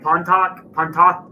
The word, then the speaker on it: Pontotoc: Pontotoc Pontotoc and Thaxton.